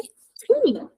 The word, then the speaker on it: chi: CHI também, som de ki. Ki. Então, ki e já é uma palavra que significa quem.